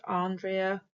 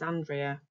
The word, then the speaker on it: Andrea: So for example, my name, Andrea, is often pronounced Andrea or Andrea, or my preferred way is Andrea.